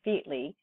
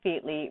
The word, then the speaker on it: Featley: Fairclough, is Daniel Fairclough, otherwise known as Dr. Daniel Featley, which, strange to say, is a corrupt pronunciation of the name Fairclough.